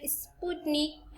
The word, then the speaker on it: Sputnik: तो भाई आप इसका नाम याद रखिएगा, स्पुतनिक, है ना। इसका शायद मैं प्रोनाउंसिएशन सही कर रही होंगी।